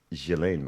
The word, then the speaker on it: Ghislaine: And it came out during Ghislaine Maxwell, I believe is the proper way to say it.